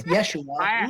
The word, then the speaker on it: Yeshua: why can't I why can't uh It's pronounced. Oh, don't give me that. Technically, it's Yeshua.